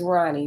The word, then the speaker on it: Rhani: Oh my gosh, when we came back from the hospital, her name is Ronnie, but it's spelled Rhani.